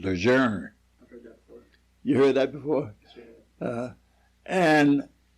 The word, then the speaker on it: Lejeune: on the ship called everybody calls it lejeune actually the correct pronouncing is legerner you heard that before